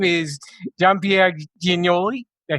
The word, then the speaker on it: Jean Pierre Giagnoli: His name is John Pierre Ginoli.